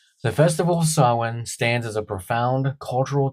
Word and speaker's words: Samhain: The very name sawin provides the first clue to its significance.